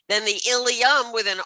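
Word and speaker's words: ileum: All right, Ilium, both pronounced exactly the same, Ilium and Ilium.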